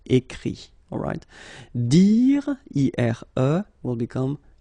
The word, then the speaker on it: écrit: Remember that phonetically this final T doesn't exist. Okay? So the sound will be only this I, écrit.